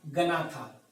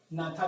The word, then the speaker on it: Gnatha: ठीक है, और दूसरा जो है उसको कहा गया गनाथा। ठीक है, जी इज साइलेंट, नाथा भी आप कह सकते हैं।